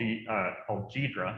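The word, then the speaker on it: Ghidra: one for free a few years ago called GDRA, as they pronounce it.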